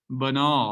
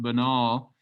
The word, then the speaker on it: banal: the itty it becomes banal i know that looks like another word with a b at the front but it is pronounced banal and what does that